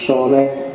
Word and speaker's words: Søren: Kalau pakai lidahnya orang sana, biasanya membacanya agak bulat di belakang, jadi Søren Kierkegaard. Jadi rodok masuk ke kerongkongan suaranya, jadi O bukan A.